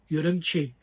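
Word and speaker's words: Ürümqi: He also helped me know that the correct pronunciation is Urumqi.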